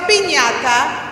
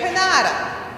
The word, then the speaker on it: piñata: It has the ñ with the little tilde. But if you took that away, it would just be pinata. And you wouldn't know that it's a piñata because you said pinata.